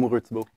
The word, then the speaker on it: Lamoureux: Lamoureux, game director on this one.